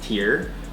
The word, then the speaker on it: TYR: The brand is pronounced TYR after the Norse god of war.